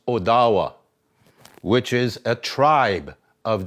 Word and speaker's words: Ottawa: language which means leader okay here's another county ottawa county supposed to be pronounced odawa which is a tribe of the anishinabe nation